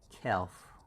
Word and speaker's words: calf: have this one and here l is silenced and that becomes kelf kelf so just calf l is silenced and it